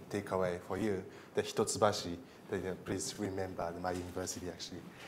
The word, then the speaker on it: Hitotsubashi: this is something take away for you the hitotsubashi please remember my university actually so the my